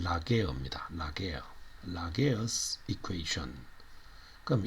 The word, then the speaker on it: Laguerre: 이거는 이 사람은 이제 프랑스 사람인데 이 발음이 어떤가 봤더니만 라게어입니다.